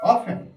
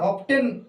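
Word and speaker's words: often: প্রায়, প্রায়, প্রায়, প্রায়, অফেন, OATEN, আমরা অফটেন এটা বলতে পারি, কিন্তু না, এখানে টিটা হলো সাইলেন্ট লেটার।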